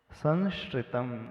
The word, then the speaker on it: संश्रितम: अब जब इस प्रकार का शब्द आता है तो प्रायः एक ही स का प्रोनाउंसिएशन निकलता है। क्योंकि पहला दंती है तो बाद का भी दंती स का ही प्रोनाउंसिएशन हो जाता है।